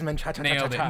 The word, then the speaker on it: Menchaca: other than Lewis and I believe I'm pronouncing this right menaa yes it is menaa there you go uh